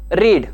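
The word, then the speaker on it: read: साध्या भूतकाळामध्ये वापरतो रीड आपण ही स्पेलिंग चेंज न करता त्याचं फक्त उच्चार करणं हे वेगळ्या पद्धतीने करत असतो म्हणजेच आपण रीड रेड रेड अशा पद्धतीने उच्चार करत असतो परंतु स्पेलिंग ही चेंज होत नसते स्पीक स्पोक अशाप्रकारे मित्रांनो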